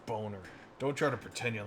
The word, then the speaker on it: Boehner: villains joan john boner i know how to pronounce german you dick it's not boehner it's boner don't try to pretend